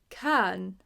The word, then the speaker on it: can: Can, not can, right?